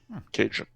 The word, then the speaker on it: Cajun: The interesting thing, though, is that one of the very few peculiarities of Louisiana Creole French is the way they pronounce D. They pronounced it with a J. So instead of calling these people Acadiens, they call them Acajans. And our word Cajun comes from Acajans, Cajun.